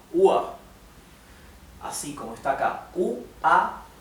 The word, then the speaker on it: Uhr: Bien, recuerden que la R final se pronuncia como una A. O sea, esto en vez de pronunciarse UR, se pronunciaría UA.